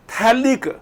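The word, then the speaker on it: phthalic: Okay, थैलिक pH silent होता है बेटा इसमें, ठीक है।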